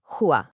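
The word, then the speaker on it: هو: That's pronounced huwa.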